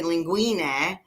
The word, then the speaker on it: linguine: And I actually put an I at the end because really in Italian it's supposed to be linguine, it's plural, right?